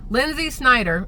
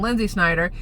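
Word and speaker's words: Lynsi Snyder: But that might change soon because, listen, Lindsay Snyder, L-Y-N-S-I, because heaven forbid you spell it the normal way, that's fine, whatever.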